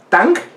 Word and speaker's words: Tang: Tang, ajá, como el jugo, ajá, de Shang.